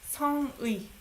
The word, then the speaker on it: 성의: 성의. You pronounce 의, by the way. You don't say 에. 에 is only for possessive. This is not possessive. It's a noun.